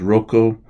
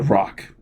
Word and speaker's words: Roch: the st. rope or oftentimes Rocco even sometimes Rocco or as I really prefer it the rock st. Roch as its pronounced or I guess I should say it's it's ro CH and this st.